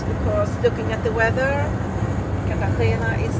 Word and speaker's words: Cartagena: I'm not sure how to pronounce it. Cartagena.